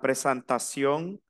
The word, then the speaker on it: présentation: e y una n la e y la n se pronuncia an Entonces yo digo la presentación personel la presentación personel